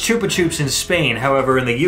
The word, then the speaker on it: Chupa Chups: Chupa Chups was started in Spain so it's pronounced Chupa Chups in Spain however in the UK they pronounce it Chupa Chups there you go chupar means yes chupar means